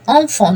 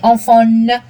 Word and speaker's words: enfant: I say enfant, not enfant. But le on, not like on in English. I don't say enfant, I say enfant. I don't pronounce the N too much.